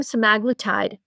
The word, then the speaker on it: semaglutide: They gave them semaglutide. So actually, guys, did I pronounce that correctly?